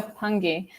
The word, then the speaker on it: pungi: gave a shout out to, is it called pungi, the instrument? Am I pronouncing That's one of it the right? names, yeah, the pungi, yeah. Oh, the pungi.